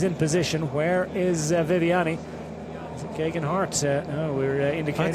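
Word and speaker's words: Geoghegan Hart: Hart oh we're indicating it's gagen Hart yeah exp another man he's a climber and who did a great job yesterday fantastic job fell off got back on finished the race I butchered his name yesterday but T gagen Hart there you go and doing a great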